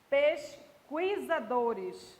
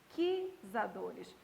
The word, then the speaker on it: pesquisadores: E você não diz pesquisadores, né? Você diz pesquisadores. Bem aqui, ó, o U não é pronunciado e bem aqui você tem um dígrafo.